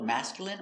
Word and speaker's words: masculine: Words ending in I N E can have different pronunciations. All of these have the sound in.